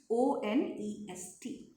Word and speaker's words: one: But when I used O in this word, then I'm not pronouncing it as own. I'm pronouncing it as one.